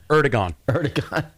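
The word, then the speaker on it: Erdoğan: Erdogan.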